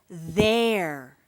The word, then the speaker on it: there: The next word is the word there. Again, that final e is crossed out because we don't say that sound. This word starts with a th and then the sounds eer there. The word is there.